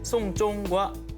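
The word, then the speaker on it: 送钟: 이 발음이 장례를 치르다라는 뜻의 송쫑과 발음이 똑같습니다.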